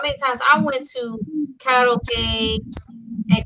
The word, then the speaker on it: karaoke: times I went to karaoke, and because it's actually Japanese, it's pronounced karaoke instead of karaoke, but it's okay.